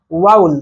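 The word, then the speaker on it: vowel: आपको मैं बताना चाहूंगा, इसे वॉवेल नहीं पढ़ते हैं, इसका जो कि करेक्ट प्रोनाउंसिएशन क्या होता है? वाउल।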